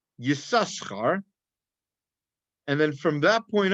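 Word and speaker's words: Yissachar: actually names yasaka now yosakura is spelled with two samaras and this first time that it's mentioned it's actually pronounced yasaskar and then from that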